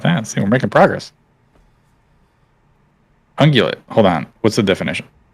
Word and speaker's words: ungulate: Ungulate. Hold on, I gotta pronounce.